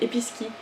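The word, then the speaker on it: Episkey: Ah ouais, Episkei. Ça s'écrit E-P-I-S-K-E-Y. Mais dans le film elle dit Episki.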